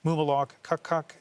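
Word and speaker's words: Mumilaaq Qaqqaq: I talked to our bureau in Iqaluit to get the proper pronunciation of the NDP candidate, Mumalok Kukuk, and that is a phonetic that I got, just in case anyone's wondering where that pronunciation came from.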